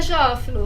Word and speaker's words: Jófilo: Bom dia, Jófilo. Falei a pronúncia certa porque sabe que a apresentadora é dislexa, né?